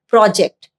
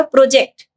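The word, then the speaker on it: project: हमको स्ट्रेस देना होगा फर्स्ट सिलेबल में। तो मैं ऐसे बोलूंगी आई am working on अ प्रोजेक्ट। प्रोजेक्ट आई am giving stress on first syllable. Okay? और वर्ब के जैसे यूज़ होगा तो ये होगा प्रोजेक्ट। जो स्ट्रेस है मेरा वो लास्ट सिलेबल में जाएगा। जेक्ट में जाएगा। प्रोजेक्ट।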